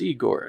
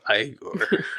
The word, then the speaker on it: Igor: Your name is Eigor. No, it's pronounced Igore.